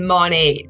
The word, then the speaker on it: Monat: That's what it's supposed to stand for. So then Monate.